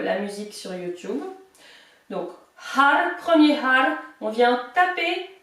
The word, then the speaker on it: Har: Prononcez bien le H et essayez de rouler les R en faisant, en tapant la langue sur le palais.